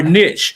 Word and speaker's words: niche: a shower niche or niche, right? Uh I I I like to say niche because niche rhyme with rich and there are riches in the niches, right?